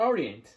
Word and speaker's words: early: 目から参りましょう early おいアクセントは頭ですこれ注意してくださいと言っても